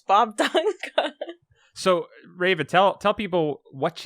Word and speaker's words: Bobdunga: Is it Bob Dunga? Yes. I've had people say like Bob Dunga, all kinds of weird stuff. But yeah, it's Bob Dunga.